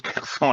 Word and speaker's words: Kherson: Ou Kherson, moi je le prononce Kherson à la française, c'est involontaire, hein, que personne ne se trompe, c'est qu'effectivement ça m'est venu comme ça.